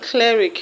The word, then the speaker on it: cleric: The word cleric has its stress on cle.